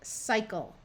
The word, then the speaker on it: cycle: Okay, right here we have a Y at the end of a syllable. That is not the last syllable, so we want to try the long I sound first. Cycle. Remember, a C before an E, I, or Y says S, so we have cycle.